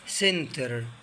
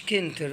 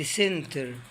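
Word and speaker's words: center: كلمة سنتر، كلمة سنتر، شايفين السي جاي وراه حرف الاي، ما قلتش كنتر، قلت سنتر.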